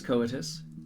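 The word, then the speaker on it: coitus: have pointed out uh the pronunciation of this word it is coetus look it up uh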